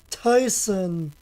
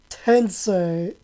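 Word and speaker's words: Super Robot Taisen: Oh yeah, right, Super Robot Tyson. Super Robot Tyson OG Saga Endless Forester. That's what I used to call it. But it's Super Robot Tensei OG Saga Endless Frontier.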